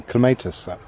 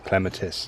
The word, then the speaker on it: clematis: Because it would be ideal to use it as a structure for growing a clematis, or clematis, depending on how you say it.